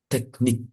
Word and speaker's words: technique: technique, technique, Bacanya langsung teknik gitu ya. technique. So there Uh, is like tek teknik.